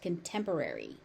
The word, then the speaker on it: contemporary: The Y on the end is pronounced. Contemporary.